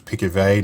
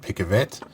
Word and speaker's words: Picavet: it wrong it was pikavey not pick a vet um named after his french inventor so the name i